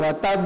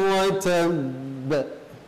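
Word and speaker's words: وَتَبَّ: Maka posisi ba yang bertasdid adalah seperti ba-nya dua. Ketika kita membacanya langsung wa tab, berarti ada huruf ba yang satunya hilang.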